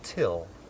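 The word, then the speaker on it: Thgil: my name is till it's spelled t h g i l but it's pronounced till till this is the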